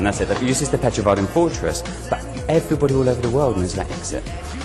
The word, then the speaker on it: Petrovaradin: You have to tell me how to pronounce it. The fortress. How do I say that? Fortress. The fortress. It's this fortress. Petrovaradin. That's it. It uses the Petrovaradin fortress, but everybody all over the world knows about Exit.